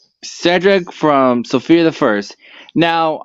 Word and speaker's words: Cedric: will mention um what oh my God Cedric you said it wrong it's Cedric it's Cedric God why is it so hard for you to pronounce my name okayed yeah cuz Sophia cuses him Cedric instead of sedric so that kind of